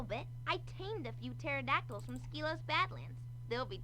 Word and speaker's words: pterodactyl: It's pronounced pterodactyl, I think you'll find. Pterodactyl. You see the P in it there? Pterodactyl, that's it.